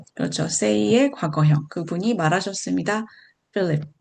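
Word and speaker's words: Philip: 필립ip said to 필립ip립에게 여기 필립ip립은요 발음이 ph음을 f 발음으로 합니다. 그래서 필립 필립 필립에게 빌립이죠.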